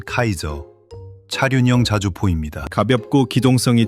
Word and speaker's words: CAESAR: 프랑스가 내세운 건 Caser 발음하면 카이저.